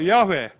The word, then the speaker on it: 야훼: 나는 야훼, 공동번역에는 여호와를 야훼라고 했습니다. 근데 발음은 야훼가 더 정확합니다.